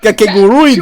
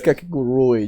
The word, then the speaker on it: Kakegurui: I think it's Kakegurui. You gotta pronounce the last U.